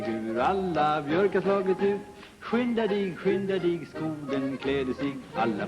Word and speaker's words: skynda: Ingemar, there's one word in there I've been trying to pronounce. S-K-Y-N-D-A.